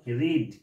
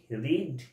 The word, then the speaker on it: read: তারপরে কি বসবে, ভার্বের 3 নম্বর, রিড। রিড এমন একটা ওয়ার্ড যার 3টে ফর্মে একই স্পেলিং কিন্তু উচ্চারণটা আলাদা হয়। প্রেজেন্ট টেন্সে হয় রিড, সেম স্পেলিং কিন্তু পাস্টে আর পাস্ট পার্টিসিপেলে হয়ে যাবে রেড, স্পেলিং কিন্তু একই থাকবে।